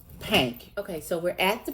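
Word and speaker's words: Pynk: And it's pronounced Pank.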